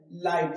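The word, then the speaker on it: light: जैसे एग्जांपल लिखा हुआ है मैंने लाइट। क्या लिखा हुआ है? लाइट। यहां जो जी एच है ये क्या है? साइलेंट।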